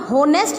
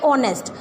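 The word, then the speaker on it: honest: है वैसे तो, लेकिन एच जो है यहाँ पर हम होनेस्ट नहीं बोलते हैं, इसकी प्रोनाउंसिएशन आती है ऑनेस्ट।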